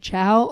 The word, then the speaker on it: Ciao: It's CIAO. Oh, right. I totally would have spelled that like the dog or eating. What? Ciao. Wow. That rhymes with wow.